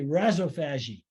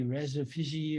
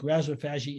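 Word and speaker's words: rhizophagy: is because it was originally pronounced by Australians who don't speak like New York people uh and so I say Razzo fagi they may say Reza Fiji or something of that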